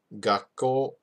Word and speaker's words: 学校: Because remember, this tiny tsu right here extends this first syllable, right? So you have to say gakko, 学校 gakko. You put a space in between those two.